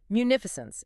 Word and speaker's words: munificence: Munificence, Munificence.